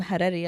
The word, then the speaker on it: Harari: Like, well, when I say I'm Harari, I'll be like, just say Ferrari. Exactly. See, so and just roll the R's. Oh, okay. Harari.